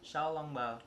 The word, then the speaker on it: xiaolongbao: Xiaolongbao.